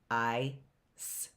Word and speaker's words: ice: That is a soft C. What does a soft C sound like? What does a soft C sound like? S, like an S. That word is easy, isn't it? Ice.